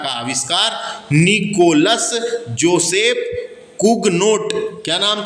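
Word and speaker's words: Cugnot: कुगनाट लिखा है। तो वही मैंने बताया, इंग्लिश में नाम रहते हैं, हिंदी में छपते हैं तो गड़बड़ हो जाते हैं प्रोनाउंसिएशन की वजह से।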